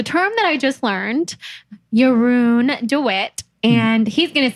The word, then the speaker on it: Jeroen De Wit: And so, how you say my name is Jeroen De Wit.